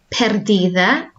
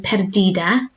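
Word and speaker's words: pérdida: In South America, you would hear this pronounced as perdida, but in Spain, a D between vowels, or vowels either side, is soft sound.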